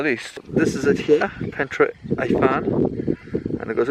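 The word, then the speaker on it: Pentre Ifan: So we've arrived at it, and it's called Pentra Ifan. That's how I've looked it up, how it's pronounced. Pentra Ifan.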